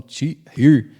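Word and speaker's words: Týr: Tiro criou e ali deu muitos ensinamentos para ele. Uns falam tir, outros falam tirir, tir vai da da pronúncia, que na verdade a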